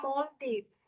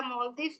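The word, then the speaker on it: Maldives: ছোটবেলায় এটার প্রোনাউন্সিয়েশন দেখতাম যে everyone is প্রোনাউন্সিয়েটিং ইট অ্যাজ মালদ্বীপস, বাট এখন দেখি everyone is saying মলদ্বীপস। I don't know why the pronunciation changed. I guess আমরা একটা ইন্ডিয়ান ভার্সন উচ্চারণ করতাম মালদ্বীপ, বাট এটার কারেক্ট প্রোনাউন্সিয়েশন মেবি মলদ্বীপসই হবে।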